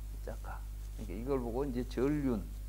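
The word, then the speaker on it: cakka: 그리고 이제 빨리어로 이걸 차크라를 빨리어로 발음하면 짜까가 되는 거예요. 짜까.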